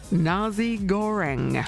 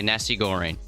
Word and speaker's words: nasi goreng: Straight off the top, the code word you need for Flyaway Fridays is Nasi Goreng.